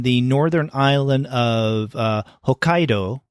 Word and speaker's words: Hokkaido: Norther island of uh Hokkaido is that how you pronounce it Hokkaido yeah Hokkaido is um what I believe is the correct and he is panning